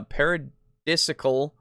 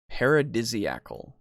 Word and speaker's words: paradisiacal: show me pronounce uh paradisiacal or paradisiacal paradisiacal oh there's an A in there I guess you're missing an a after the SI huh is that anyway